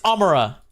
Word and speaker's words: Amara: Say my name properly. Amara. Amara. No, Amara. It's Amara. It's Amara.